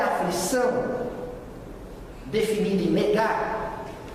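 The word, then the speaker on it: נגע: só gente tem uma palavrinha em hebraico se pronuncia Nega e aqui eu queria que a identificação porque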